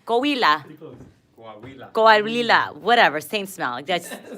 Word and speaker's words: Coahuila: Coahuila. Oh, Coahuila. Coahuila. Pretty close. Coahuila.